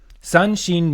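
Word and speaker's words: 三神: I think the j the Chinese actually actually say shen but the Japanese say shin okay san shin means three gods so the three flower as the hana is the three flower gods Okay.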